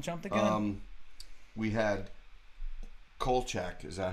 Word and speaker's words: Kolchak: We had Kolchak. Is that how you pronounce yes, it? Kolchak, Okay.